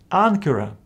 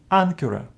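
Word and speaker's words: ἄγκυρα: If any of these letters follow gamma, this first gamma is pronounced as n. For example, in this word, ankara, ankara, from which we have the English word anchor.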